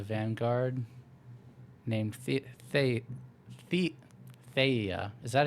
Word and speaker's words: Thea: colonel in the Vanguard named th th the Thea is that how you pronounce it witty Thea Thea Thea thank you meeting with alen's twin sister in